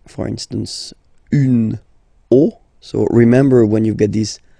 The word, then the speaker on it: os: then it will be, the rule is that you get to put X here at the end, but then same rule, you don't pronounce it. Des os, okay?